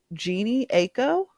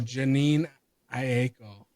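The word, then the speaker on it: Jhené Aiko: My next one is gonna be Sativa by I don't know how to say her name, so I'm gonna butcher it real quick. Uh huh. But Jeannie Aiko, Oh, Janine Aiko. yeah, her Janine Aiko.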